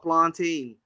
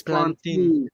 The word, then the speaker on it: plantain: Only real ones know about plantain. I'm saying it wrong to be honest right now as well. It's plantain.